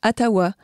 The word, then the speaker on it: Ottawa: on revient aux origines Otawa se prononce atawa est-ce que tu sais